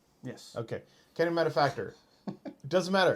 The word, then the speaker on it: Academy Manufactor: no procession crazy good right like you said Academy manufactor did I say it right yes okay Academy manufactor doesn't matter it's colorless so it goes it's